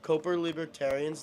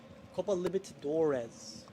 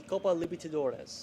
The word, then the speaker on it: Copa Libertadores: Copa Libertadores. That's how you say it. Why is he saying Libertarians? Cuz autocorrect way, but it's the Copa Libertadores.